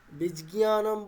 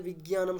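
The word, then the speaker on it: বিজ্ঞানম্: এবারে বীজজ্ঞানম বললে ওটা অবশ্যই শ্রুতিমধুর হচ্ছে না। মানে বীজজ্ঞানমের থেকে বিজ্ঞানম শুনতে ভালো লাগে অবশ্যই।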